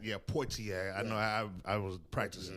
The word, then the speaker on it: Poitier: Good job on pronouncing his name right. Yeah, Poitier. I know I was practicing now because I would have fucked that one up. Sidney Porter.